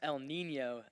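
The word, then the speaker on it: El Niño: Uh, it's actually pronounced El Nino. Uh, it's like Spanish for the little boy.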